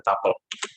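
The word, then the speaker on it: tuple: ada tipe data lain namanya tapel bacanya tapel atau mirip dengan list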